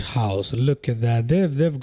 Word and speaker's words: Lord Howe: that this is pronounced Howe. I am not so sure about it. I guess there is no extra E. And it's not spelt IE, so yeah. Makes sense that it would be pronounced Howe.